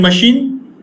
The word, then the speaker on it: machine: In machine, CH is pronounced as sh, not ch and k here.